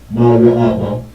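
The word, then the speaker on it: מואב: It's Moab, or in the Hebrew, Mawa'apa. All of the letters are independent, none are connected.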